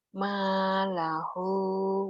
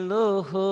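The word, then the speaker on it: مالُه: Malahu wa waladuhu. Bukan lahu tapi luhu.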